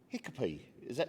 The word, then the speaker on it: Hikapee: the wonderful Horton Centre, and I've been joined by Hiccupy. Did I pronounce that correctly?